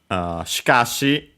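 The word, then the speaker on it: しかし: Shikashi, notice the first E barely heard if at all because it's written in voice consonants. The accent is on ka.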